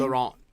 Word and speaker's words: Laurent: Laurent or Laurent? How do you pronounce that guy's name? Laurent. Laurent, there you go.